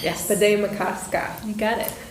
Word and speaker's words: Bde Maka Ska: And I'll need your help with the pronunciation. Bed makasa. Bed makasa. Yes. Bed makasa.